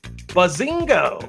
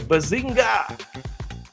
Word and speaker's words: Bazinga: Bazingo. I'm sorry, Bazinga. I didn't say it right.